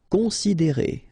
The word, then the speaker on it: considérer: Considérer, okay, same thing here. You get this accent aigu, and then the sound is E.